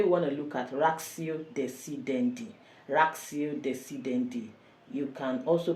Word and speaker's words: ratio decidendi: Today we want to look at ratio decidendi. Ratio decidendi. You can also pronounce it as ratio decidendi, but it's better pronounced as ratio decidendi.